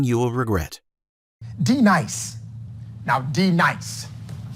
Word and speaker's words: D-Nice: Now, D-Nice. Do you mean Denise? You say your name right now. Denise? Say it right. Denise. Correctly. Denise. Right. Denise. Right. D-Nice? That's better. Thank you.